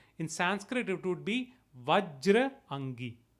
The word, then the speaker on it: Vajrangi: Bajrangi is again a colloquial way of pronouncing it, the Avadhi influence in it. In Sanskrit, it would be Vajrangi, Vajrangi or Vajrang.